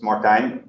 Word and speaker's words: Martijn: my name is suggesting, I'm Dutch actually, so it's Martijn. Martin will do the job as well, because I know also perfectly well that Martijn obviously is not the most easy thing to pronounce for non-Dutch people.